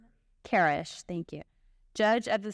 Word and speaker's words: Karesh: Karesh, am I pronouncing that? Karesh, thank you.